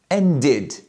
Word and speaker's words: ended: And the last verb, end, the ED sounds like id, ended.